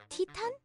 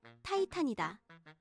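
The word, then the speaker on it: Titan: 티탄? 어디서 많이 들어본 소리인데? 이렇게 고개를 갸우뚱하는 사람들도 있으리라. 맞다. 티탄의 영어식 발음은 타이탄이다. 타이탄은 거대한 거인, 대사업, 어찌 되었든 큰 것을 표현할 때 쓰는 말이다.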